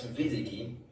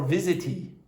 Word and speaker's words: visit: After using Instagram to wrap up, let's visit. That's what visit or visity. Visit. No. Oh, what's the difference? Visit. There is. Yes. There is no such word in English as visity.